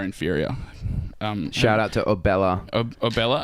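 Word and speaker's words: Obela: Obella. I used to think it was like pronounced Ebola for some reason, because I'm a little.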